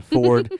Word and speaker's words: fjord: arm Ford for yeah Ford uh so uh I'm want to say that probably like the vehicle uh manufactur f r d but it's spelled FJ o r d um and so